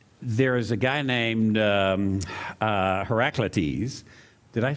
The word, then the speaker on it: Heraclitus: from Ephesus and there is a guy named Heraclitus did I pronounce that right David that I think I think you're right when I said Heraclitus is how you pronounce it Heraclitus david's our resident philosopher so Heraclitus lived in